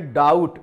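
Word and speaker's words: doubt: इसके बाद देखिए डाउट, यहां भी देखिए डबल कंसोनेंट आ रहे हैं, बी भी कंसोनेंट है और टी भी कंसोनेंट है। और हमने आपको बताया कि जब डबल कंसोनेंट होते हैं तो एक कंसोनेंट का उच्चारण साइलेंट हो जाता है। तो यहां पर इसको हम पढ़ेंगे डाउट।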